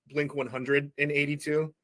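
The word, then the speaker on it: Blink-182: like um you know Blink 182 they um people in England call them blink 100 in 82 did you know that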